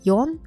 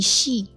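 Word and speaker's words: 四: is Jew all right just know that four and seven have two different readings as well four is commonly more known as yon but it can also be she all right seven is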